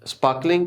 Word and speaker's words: sparkling: Sparkling का R नहीं पढ़ेंगे, क्यों? R के बाद K है, K is consonant, नहीं पढ़ते. Sparkling.